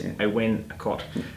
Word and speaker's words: Awen Akot: a week saying, no, it's not how you pronounce it, it's Awen Akot.